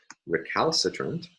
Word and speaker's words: recalcitrant: Here, the primary stress again falls on the third to last syllable.